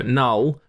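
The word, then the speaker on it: Knull: I think it's pronounced null it's k n l l I would say that's a silent k it's not going to be col so null god of the Symbiotes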